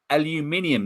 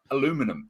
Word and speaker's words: aluminium: can of be is made out of aluminium not aluminum it's aluminium aluminium your internet must not